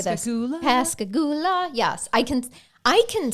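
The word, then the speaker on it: Pascagoula: But you will learn to pronounce Pasigula. Pasigula. Mhm. And And you'll learn how to sing it better than read it and say it. Say it. Pasagula. Pasagula.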